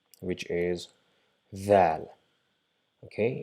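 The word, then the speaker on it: ذال: See, the location is exactly the same for Dhal. We just touch our tip of the tongue to our top incisor and try to pronounce z, but we will not be able to pronounce z because our tongue is not inside our mouth. It is rather touching the tip of the front top incisors, so we end up pronouncing the.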